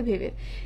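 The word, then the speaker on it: Weber: এই যে ওয়েবার ওয়েবার তোমরা অনেকে বলবা ওয়েবার ডব্লিউ ই ভি ই আর তোমরা জানো জার্মানে ডব্লিউ কে ভি এর মত উচ্চারণ করা হয় তো এটা হচ্ছে ওয়েবার না তাহলে ভেবের তো এই ভেবের ইনি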